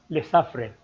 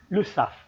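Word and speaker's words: Lesaffre: the other one by the way you don't pronounce it as le safre but this is the surname and it is pronounced as lusaf and the other one is bonduel and they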